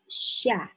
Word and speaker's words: ща: In the beginning, it might be difficult to hear the difference between ша and ща. Щ is a soft version of sh.